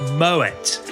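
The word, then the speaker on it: Moët: year number two when talking about champagne it's pronounced moet claude moet was born in france but his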